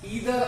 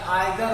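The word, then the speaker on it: either: दोनों साउंड करते हैं, दोनों अमेरिकन और ब्रिटिश साउंड अलग अलग होता है, इसलिए कुछ लोग ईदर और बोलते हैं और कुछ लोग आइदर और भी बोलते हैं, कुछ लोग नीदर नॉर बोलते हैं, कुछ लोग नाइदर नॉर भी कहते हैं।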